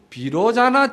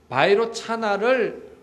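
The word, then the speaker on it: वैरोचन: 비로자나라는 말도 이게 산스크리트 인도 원어입니다. 이 원어의 본 발음은 바이로차나입니다. 이게 바이로차나를 음을 그대로 따온 거예요. 그래서 한문 음을 따다 보니까 바이로차나라는 말이 안 되고 비로자나라는 말로 한문 음이 되는 거예요.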